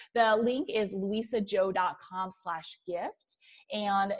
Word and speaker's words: Luisa Zhou: gonna spell it out because my name is not spelled how it sounds the link is Lisa Jo comm slash gift and